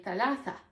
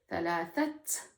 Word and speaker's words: ثلاثة: So I'll be saying thalatha, thalatha, and I'm not pronouncing the ta marbuta at the end. So I'm just keeping it open. Thalatha. Unless I'm counting something, then I would pause and say thalathat, thalathat, because I'm speaking fast.